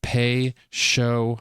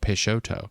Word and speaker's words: Peixoto: I could have just read the top of the logo where it tells you how to pronounce it it says pay show peshoto I was I wasn't